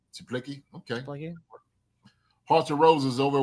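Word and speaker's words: Czaplicki: Is it Chuplicki? It's spelled spelled C Z A P L I C K I. So I think Chuplicki. Chuplicki.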